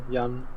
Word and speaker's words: Jan: my name is also Jan. Though Yes. again, I'm Yes, I from know. the north, so I'm generally accustomed to it to be with a short A and like a harder N.